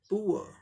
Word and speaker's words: Poor: Raw sound silent है British English pronunciation में, BR मतलब ब्रिटिश, ई मतलब इंग्लिश। ये ब्रिटिश इंग्लिश को शॉर्ट में लिखने का तरीका है। ब्रिटिश इंग्लिश प्रोनाउंसिएशन में क्या करेंगे, पुअर। इसी को अमेरिकन इंग्लिश प्रोनाउंसिएशन में क्या होगा, पुअर, पुअर, पुअर, पुअर, पुअर, पुअर। रॉ का साइलेंट हो जाएगा, यहाँ पुअर रॉ भी आएगा।